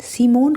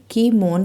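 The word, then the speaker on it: Kimon: second सिमोन कौन था सिमोन को वैसे तो वैसे तो सिमोन को की स्पेलिंग है के आई एम ओ एन इसको हम हिंदी में कीमोन कहते हैं पर बुक में सिमोन ही लिखा है तो मैं सोचा मैंने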